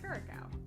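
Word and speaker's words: Curaçao: I pronounce that before I fuck up the pronunciation? Curacao? Okay, Curacao.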